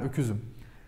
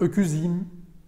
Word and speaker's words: öküzüm: Ben öküzüm. I'm ox. Öküz. Ends in ü, so it's not öküzim. We don't move our lips.